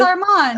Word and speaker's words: Armand: You're pronouncing his name wrong. Armand. Armand. It's Armand.